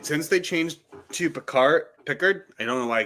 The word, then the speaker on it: Pickard: I think how it's actually pronounced as Pickard. It is Pickard. Calvin Pickard. Yeah, call him Pickard. It it sounds like he should has an E in his name when it's an A though.